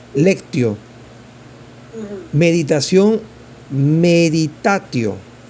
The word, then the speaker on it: meditatio: Meditación, meditatio. Meditatio, con T.